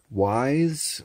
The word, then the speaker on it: Ys: nine this is uh wise i guess is how you pronounce it y s um by um joanna